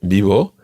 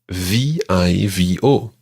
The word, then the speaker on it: vivo: In Spain, it's pronounced a sort of combination between a B and a V, and it sounds something like "rrr."